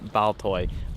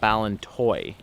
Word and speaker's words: Ballintoy: down to ballon toy I've been saying it wrong a whole day not baltoy ballon toy there's an eye in there I've caught it